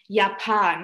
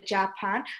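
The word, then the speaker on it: Japan: মত করে প্রোনাউন্স হয় যেমন ইয়াপান আমরা কিন্তু জার্মানে বলি না জাপান আমরা বলি ইয়াপান তার মানে জাপানকে আমরা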